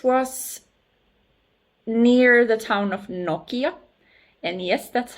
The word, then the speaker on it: Nokia: So this was near the town of Nokia. And yes, that's how you pronounce Nokia phone too, by the way.